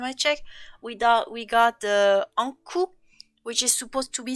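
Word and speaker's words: Ankou: Basically, the whole deal about the Anku, or Anku as we pronounce it in France, it's usually some kind of undead that usually departs the dead around Britain for a whole year.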